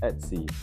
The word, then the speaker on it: etc: etc. Pronounced at C, the nerve center.